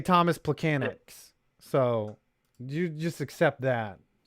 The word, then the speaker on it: Plekanec: Well, it is a miracle that I could say Thomas Plekanec. So you just accept that. Thomas Plekanec. Plekanec. You have to say it phonetically.